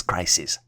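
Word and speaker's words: crises: reputation or overall wellbeing the plural version for crisis is spelled as c r i SES and is pronounced as crisis and then the last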